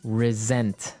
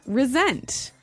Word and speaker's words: resent: said I resent that resent resent okay now this is spelled exactly like resent like with an S right that's right re e s e n t but you pronounce it like a z mhm resent resent that